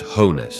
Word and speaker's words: Jones: knew see pictures of Jones the dog as a puppy pronounced hones short for coones view intimate pictures he